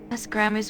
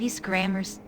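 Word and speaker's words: Ysgramor's: Isgramor's weapon, not Isgramor's.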